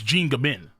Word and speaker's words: Jean Gabin: Oh, Jean Gabin. Oh, I said Gabon. Jesus Christ. It's Jean Gabin. It's pronounced Jean. Okay.